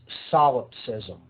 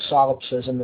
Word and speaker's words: solipsism: lie and that is the ideology known as solipsism that's spelled s o l i p s i